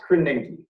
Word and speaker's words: Krasinski: It's pronounced Krasinski.